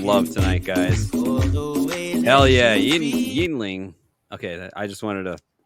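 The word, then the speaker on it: Yuengling: I didn't say it right. Yingling. I knew what it was. I call it Youngling.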